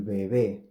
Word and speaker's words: bebé: So we have seen that when the B and B are preceded by a consonant, they are pronounced like the approximant V, V.